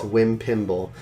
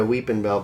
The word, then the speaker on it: Weepinbell: Wimpimble. Which came from Jordan's awful misspelling of Weepinbell, or mispronunciation. A criminal mispronunciation. Yeah, he said a Weepinbell, but he went a Wimpimble, and then we said, is that Meowth's name?